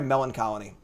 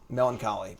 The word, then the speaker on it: melancholy: tenya tenya opponent's very melon colony melancholy melon god damn it my band used to have a song called melon colony i said it wrong it's melancholy they're gonna play my god